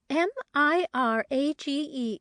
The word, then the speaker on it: mirage: M I R A G E is pronounced mirage, said Valency shortly, picking up her tea and her beans.